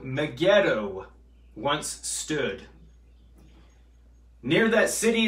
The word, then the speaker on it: Megiddo: town that's what armageddon means mount mageddon or megiddo to be accurately to accurately pronounce it throughout all the years mount megiddo and we'll look at examples from the old